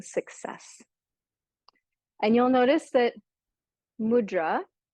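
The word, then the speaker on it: मुद्रा: and you'll notice that mudra has a line over top of the a so that's intentional because to properly pronounce mudra in Sanskrit it's mudra with a long mudra instead of mudra but it's just easier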